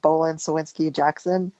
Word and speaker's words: Bohlin Cywinski Jackson: I'm a senior associate at Bolan Sinsky Jackson in San Francisco.